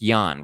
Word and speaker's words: Jan: His name is spelled Jan, but it's Yan, right?